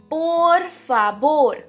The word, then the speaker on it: por favor: अब आप कह रहे होगे कि ये टीचर व को ब क्यों बोल रही है, क्योंकि नेटिव स्पेनिश लोग व को ब ही पढ़ते हैं, ब. ओके, तो आप भी पढ़िए por favor. por favor. अगर आप ब बोलेंगे तो आप थोड़े ज्यादा नेटिव साउंड करेंगे.